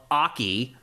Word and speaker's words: Aki: The first one was a new fighter called Aki. Am I pronouncing that correctly?